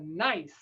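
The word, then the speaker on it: gneiss: rock like this and this rock is called a nice that's right it's nice now it's not actually spelled how you think it might be spelled it's spelled like this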